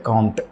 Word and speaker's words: Comte: ஸோ அதில் நாம் first பார்க்குறது ஆகஸ்ட் காம்ட், அதாவது ஆகஸ்டே காம்ட் அப்படிங்கிற காம்டே அப்படின்னும் சில பேர் நம்ம ப்ரொனவுன்ஸ் பண்ணுவோம்.